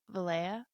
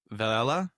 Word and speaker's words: Velella: Vala or something? No, I I actually looked up on YouTube how to how to pronounce this thing. Okay, cool. So, it scientific name is Vala.